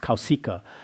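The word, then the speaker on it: Kauśika: In Sanskrit, it should be pronounced Kausika.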